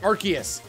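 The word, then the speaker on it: Arceus: recently found out that aras's name is actually pronounced archus my whole world's been flipped turned upside down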